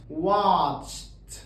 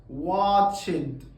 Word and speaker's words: watched: دي، في الحاله دي برضو بحذف الاي، ما بنطقهاش اطلاقا، بكتبها بس. بقلب الدي اخليها تي، فبقول worked watched asked. ما بقولش worked غلط، watched غلط، asked غلط، كل النطق ده غلط.